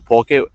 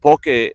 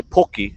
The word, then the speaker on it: poke: is spelled p-o-k-e and a lot of people tend to mispronounce it and they say poki which telling poki is